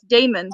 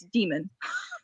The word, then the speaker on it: Damon: I mean, I know this probably is pronounced as Damon, but if you play Dungeons and Dragons, then it's Demon.